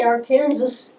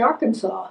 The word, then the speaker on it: Arkansas: yeah yeah it's not we say our Kansas and across the line they say Arkansas yeah they think there arkans Riveras River it's all the same river yeah it's our River